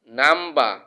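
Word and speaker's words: number: এটাকে আমরা আর বলি, কিন্তু এটা শুদ্ধ উচ্চারণ হচ্ছে আ, আ। যেমন নাম্বা, নাম্বা, অর্থাৎ আর সাইলেন্ট থাকবে। ইংরেজি ভাউল এর পরে অর্থাৎ এ ই আই ও ইউ এর পরে সাধারণত আর এর উচ্চারণ হয় না।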